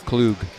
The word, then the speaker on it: Klug: by plenty of fresh, locally grown, certified SC 20 Josh Klug Oh, it's Klug. Excuse me, it's Klug. It's a long u Klug 10 seconds Well, back